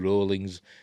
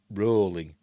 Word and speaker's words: Rowling: Wizarding World in JK Rowling's rowlings by the way rolling as in to rhyme with ballings not Rowling it's rolling debut movie Harry Potter and